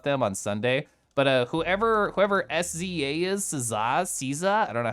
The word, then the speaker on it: SZA: So SZA is how it's pronounced, and she rules.